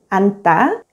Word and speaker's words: 앉다: When the 겹받침 니은지읒 is followed by the consonants 기역, 디귿, 시옷, or 지읒, only the first consonant 니은 is pronounced and the second consonant 지읒 is silent.